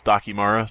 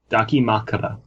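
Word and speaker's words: dakimakura: One of those Dakimara things? Is that pronouncing right? Huh? Dakimakara.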